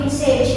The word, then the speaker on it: message: B ya, message A ya, ini message ya, pesan. Kalau massage ini beda ya. Nah, bacanya beda message ya. Kalau yang pakai A bacanya massage ya, yang pakai perawatan itu yang spa itu.